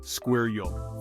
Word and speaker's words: squirrel: queer sound in the middle let's say together squir Yol fantastic you're a natural squirrel speaker our fifth